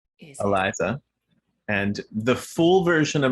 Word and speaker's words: Eliza: I too, when I pronounce my own name, I use a schwa in the first and last syllable. So I say Eliza.